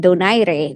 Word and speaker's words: Donaire: so even his name, like yeah, you say Donaire, you're like okay, he could be French, but Donaire is more of that Spanish heritage.